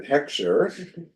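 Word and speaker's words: hechsher: Heim or singular heer usually pronounced by English speakers as hexer okay with the accent of the first Sy HEC sure unique to each agency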